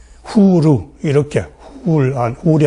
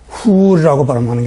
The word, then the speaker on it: 후르: 그런데 이렇게 R을 쓰게 되면은 훌이라고 발음하는 게 아니라 후르 이렇게 발음하는 것이 더 정확하다.